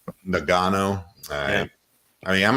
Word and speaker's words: Ngannou: How do you pronounce his name? Francis Ngannou. Ngannou.